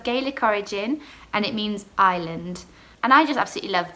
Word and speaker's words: Isla: and it's with an a-i-l-a still the same pronunciation so isla but just with a different spelling so yeah